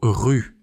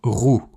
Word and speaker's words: rue: Oh là là, le mot rue par exemple, je disais toujours rou et les gens me regardaient bizarrement et puis les verbes, les temps.